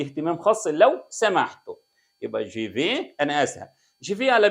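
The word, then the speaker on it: je vais: الي تحول في معايا جي في جي في انا اذهب بص يا جماعه التلات حروف دول يتنطق ايه جي في انا اذهب التي تضرب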